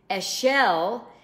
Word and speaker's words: אשל: and our sages call this the eschel principle a shell is um the word for tamarisk is a